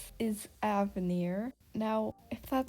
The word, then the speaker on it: Avenir: there's no way in heck her name is pronounced avenir actually let's figure this out i'm pulling up